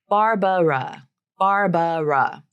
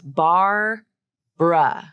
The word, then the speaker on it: Barbara: the word Barbara so here we have a fun little reduction of that final uh syllable the first syllable is